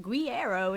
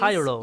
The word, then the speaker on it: Guerreiro: I'm going to just denounce my heritage and just be like, Guerreiro is fantastic. If you're Portuguese, Guerreiro. you kind of saying it as Guerreiro. Because it's like, our word for war is guerra.